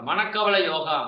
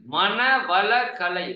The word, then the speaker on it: மன வள கலை: பேர் பாருங்க, நிறைய பேர் கொஞ்சம் தப்பா உச்சரிப்பாங்க. மனக்கவலை யோகா, மனக்கவலை யோகா. சரிதானே? மன வள கலை, மனதை வளப்படுத்தக்கூடிய கலை.